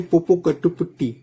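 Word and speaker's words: Popocatépetl: okay इसके नीचे है पोपो कट पटटी ठीक है इसका नाम को बहुत ही ध्यान से प्रोनाउंस करिएगा और सर्च कीजिएगा ठीक है इसको क्या प्रोनाउंस आता है पोपो कैटी पटी ओके फिर आप देखेंगे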